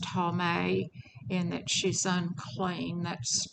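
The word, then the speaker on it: טמא: foul is in a ceremonial sense and it's pronounced tommy and that she's unclean that's strong's word two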